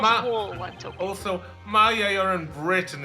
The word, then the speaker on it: Maya: Somebody remind me the pronunciation here because I keep forgetting. It's Maya.